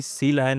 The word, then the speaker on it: Sealion: हाजी सबसे पहला सवाल सीलाइन को प्रोनाउंस कैसे करते हैं वेल बी वाडी जानी जाती है अपने जो ओशन सेंट्रिक नेम्स के लिए जैसे सील है एटो है वैसे ही सी लायन एक सी मैमल है तो सी लायन ऐसे प्रोनाउंस करेंगे हम बी आईडी सी